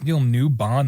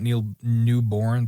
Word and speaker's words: Neil Newbon: It's Neil Newbon, not Neil Newborn.